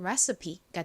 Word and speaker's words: recipe: 가장 끝에 e는 보통 영어 단어에서 헛깨비 무음으로 소리가 나지 않는데이 단어에서는이가이 소리로 쓰였어요. 그래서이 단어의 발음은 recipe가 됩니다. 따라해 보세요.